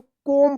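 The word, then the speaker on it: comb: जैसे यहां पे देखिए सी ओ एम बी तो क्या पढ़ेंगे इसको? कोम पढ़ेंगे। आप इसको कॉम्ब मत पढ़िएगा। कॉम्ब मत पढ़िए। क्या पढ़ेंगे इसको? कोम पढ़ेंगे। यहां पे क्या है? B silent. बी का उच्चारण नहीं होगा।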